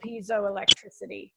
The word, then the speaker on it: piezoelectricity: But I'm going to start with Marco's question, which is, what materials can conduct the piezoelectricity? And am I pronouncing that right? Piezoelectricity? Piezo, yeah.